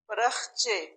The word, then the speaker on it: پرخچے: बेवकूफ, बेवकूफ, परखचे, परखचे, را کے اوپر زبر ہے اور پھر خا کے اوپر جزم ہے. پرخچے.